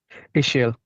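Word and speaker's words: Ixil: Okay, how do you pronounce the language? Ishil. Ishel.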